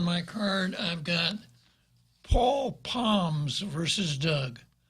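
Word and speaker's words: Pomes: Next on my card, I've got Paul Poms versus Doug. P-O-M-E-S. I would pronounce it Palms if I were in Aussie.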